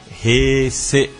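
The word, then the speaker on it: 平成: que estamos é a Heisei, mas ela falou que o E é fechado, então seria como Heisei, e é isso.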